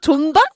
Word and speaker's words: 존 박: 존과 잔의 중간 발음인 거죠?